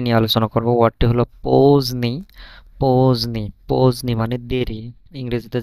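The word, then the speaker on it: поздний: যে দে এন ইকরাকা এখানে দে এর উচ্চারণটা কিন্তু হচ্ছে না দে এর উচ্চারণটা হচ্ছে না কেন হচ্ছে তার কারণ আছে।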